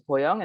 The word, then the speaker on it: Bo Young: of you wonder, like, should I call her Boyoung? Should I call her Bo? What is her actual name? And what I always tell people is my Korean identity is Boyoung, and the only people in my life who